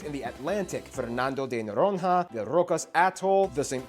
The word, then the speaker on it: Noronha: no rohingya okay so when you see nh together it's a nes sound the saint peter and